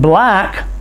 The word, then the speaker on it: black: In black, C-K are double letters that only make one sound.